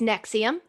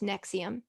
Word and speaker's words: NXIVM: It's Nexium.